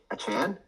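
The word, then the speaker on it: Achane: out aan or a achan yeah a that's what they say it's a Chan that's what it is anyways anyways um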